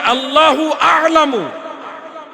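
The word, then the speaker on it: الله أعلم: আল্লাহর ক্ষেত্রে উচ্চারণ হবে আল্লাহু আলামু।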